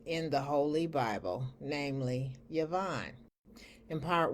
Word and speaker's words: Javan: Today, I'm going to discuss what the Holy Bible says about the sons of what looks like Javan, but is actually pronounced Yavan, or the sons of the Greeks in the Old Testament.